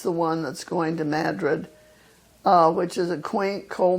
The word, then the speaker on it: Madrid: And in New Mexico, we call it Madrid, right? Not Madrid, as they do in Spain. Yes, David, and David certainly knows. It's always been Madrid.